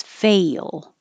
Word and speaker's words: fail: You don't have to make it perfectly two syllables like fail or feel. Just let your tongue slide down and kind of make two parts. Fail.